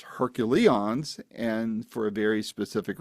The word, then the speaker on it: HercuLeons: Who I'm talking to are two founding members of a group called the Hercules, not the Herculeons. I know what I'm saying here. It is pronounced Hercules and for a very specific reason.